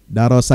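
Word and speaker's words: دَرَسَ: yadrisu itu hilang ya ini beda nih ini beda pengucapan beda harakat ini beda artinya ya darosa yadrusu belajar ya Darisa yadrisu hang yang darisun sebagaimana dalam al-qur'an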